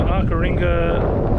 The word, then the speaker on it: Arckaringa: pass and turn off to arar ringa station as how it's pronounced and you drive about